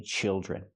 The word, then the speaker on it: children: say childs, I say children. Use the short I sound like this is. Children. And the D R makes the j sound like jump and juice. Plus the R, j-j. Children. There are four children.